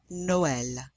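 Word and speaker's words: Noël: two vowels together here the indicates that these two vowels are pronounced separately so you know this word Noel Noel Christmas and some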